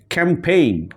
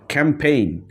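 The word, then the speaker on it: campaign: পরের ওয়ার্ডে যাই এখন ক্যাম্পেইন ক্যাম্পেইন সো এখানে দেখো জি এর পরে কিন্তু এন আছে জি এর পরে এন আছে সো এখানে জি টা কিন্তু সাইলেন্ট হয়ে গেছে ক্যাম্পেইন এরপরে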